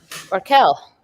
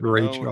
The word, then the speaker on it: Raquel: I probably would have pronounced it Rachel, hello. even though there's no C.